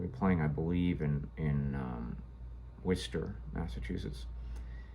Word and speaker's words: Worcester: We were playing, I believe, in Worcester, Massachusetts. Said like a native, so I'm from New England, so I know how to pronounce Worcester.